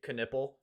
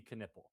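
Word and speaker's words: Knueppel: Knipple. That's really how you pronounce it?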